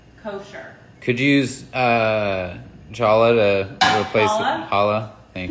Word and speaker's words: challah: Could you use Challah to replace Challah? challah. Thank you. I'm reading it phonetically.